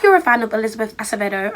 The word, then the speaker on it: Acevedo: First of all, it was written in verse, and if you're a fan of Elizabeth Acevedo, I think I'm pronouncing it correctly now because before I was saying Acevedo.